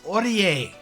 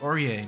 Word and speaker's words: Orie: but yeah that's Carmine next we have Miss orier yes it is pronounced orier not Ori someone actually said like Orient I'm like no no it's not or it's